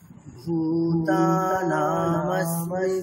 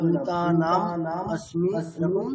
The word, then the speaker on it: ভূতানামস্মি: আচ্ছা, এখানে কিন্তু এরকম করলে হবে না, ভূতানাম अस्मि এরকম বিচ্ছেদ করে দিলে হবে না। আমাদের চ্যান্টিং এর ক্ষেত্রে একটা শব্দ বন্ধকে একবারেই উচ্চারণ করতে হবে, ওখানে কোনো ছেদ করা যায় না। উচ্চারণ এমনটাই রাখুন, ঠিক আছে।